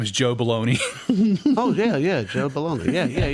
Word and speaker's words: Bologna: He plays James Caan's brother, Leo, and his name is Joe Baloney.